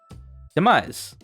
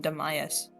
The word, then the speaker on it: Demise: How do you actually say his name? Demise. You've been flip-fpping between Demise and Demias.